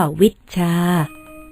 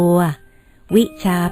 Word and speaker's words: วิชชา: บอก จด ไว้ ก่อน ไม่ ใช่ วิชา ต้อง ออก เสียง ว่า วิชชา คือ มี ช ช้าง 2 ตัว วิชา เป็น ศัพท์ ทาง โลก